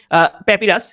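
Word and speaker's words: papyrus: কিন্তু এমনিতে আপনি বলবেন যে প্যাপিরাস।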